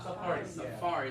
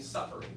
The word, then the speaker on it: safari: It's on the second syllable, all right? So it's the, of course, it's the web browser on your Apple phone too, but yeah, it's the same word. So yeah, everybody say safari. Safari. Yeah. Y'all were stressing on the first syllable, saying suffering, right?